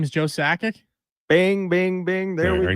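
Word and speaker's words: Sakic: Behind my name is Joe Sackic.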